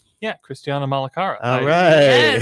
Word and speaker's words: Malacara: Yeah, Christiana Malacara. All yes, right. yeah, I yeah, don't roll the R, but yeah.